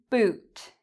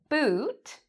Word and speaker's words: boot: Boot, book. Which one is longer? Boot is the longer one.